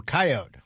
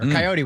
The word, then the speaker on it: coyote: City folk will call them coyote with a long e or coyote with a long e." And us that grew around in the sticks call them coyote with a silent e.